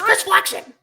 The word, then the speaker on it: Chris Flexen: It's Chris Flexen.